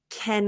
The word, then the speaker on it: can: beginning of a phrase I find that we don't really reduce it as often so this one I would say can I go with you can I can I I wouldn't say can go you might hear someone reduce it but typically I would say this one I would open my mouth more can I can I